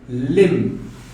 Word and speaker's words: limb: The next one is limb. So as you can see, the sound of M is the last sound letter you are pronouncing. Harafka B enter aad ku dhawaaqaysaa oo B da waad joojinaysaa. You do not pronounce the letter B. B is silent.